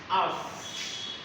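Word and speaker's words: -ous: The very pronunciation of OUS is us. That means us.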